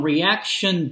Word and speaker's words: Reaktion: I wrote it down reaction books um and it's spelled cleverly react with with the K R tak tion books and I'll put